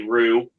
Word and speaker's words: Roode: for shouting out Bobby Rue the de the D is silent it's just like Jango